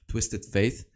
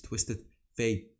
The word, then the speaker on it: Twisted Fate: million comments telling me it's not twisted faith it's twisted fate you know with it